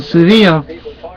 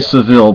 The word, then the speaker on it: Sevilla: We could walk down the street in Sevilla, and maybe in English, I think people would say Seville, but that's not how you say it. It irks me when people mispronounce certain things in Spanish.